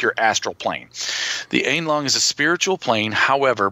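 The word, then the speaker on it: Aenlong: The Einlong, or the Einlong is how it's pronounced.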